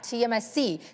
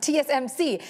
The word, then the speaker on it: TSMC: Intel and here's why TMSC sorry I I mispronounced it TSMC is at advantage here because even as more companies are continuing to design chips and manufacturing uh design chips.